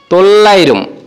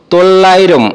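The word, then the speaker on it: തൊള്ളായിരം: বলে থাকি যেরকম 900 কে মালায়ালাম ভাষায় বলে তল্লাইরম 900 কে মালায়ালাম ভাষায় আমরা বলব তল্লাইরম ওকে 900 মায়ালাম হবে তল্লাইরম ওকে বন্ধুরা এখন দেখব ত্রিপল নাইন যেটাকে আমরা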